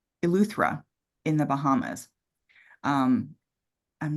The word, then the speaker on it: Eleuthera: You, it's Eleuthera in the Bahamas.